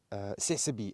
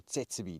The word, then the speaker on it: Tsessebe: Tsessebe antelope, or tsetsebe, depends how you want to pronounce it.